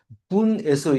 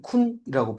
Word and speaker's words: 군: 군에서 이랬는데 원래 발음이 쿤이라고 발음이 나야 됩니다. 쿤이라고 발음 나고 디브핫 이렇게 하는데 소바 땅의 땅 이름이죠.